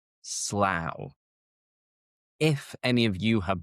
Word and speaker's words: Slough: You might think it's slow. But no, in this case it rhymes with cow. So the vowel sound is an ow.